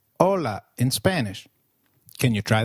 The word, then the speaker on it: hola: Hi is called hola in Spanish. Can you try that, please? Hola. Did you get that right? hola. Remember, H is always silent in Spanish.